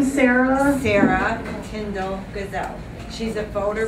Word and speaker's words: Sara: Sarah Tyndall Gazelle.